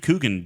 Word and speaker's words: Coogan: The best thing I can movie that I've ever seen Steve Coogan in, I got that last name wrong, I'm sure. Coogan, thank you.